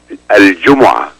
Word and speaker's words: الجمعة: Al-Jum'ah.